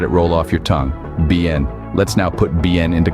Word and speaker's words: bien: well now let's break down the pronunciation it's pronounced bin try it out let it roll off your tongue BN let's now put BN into context with a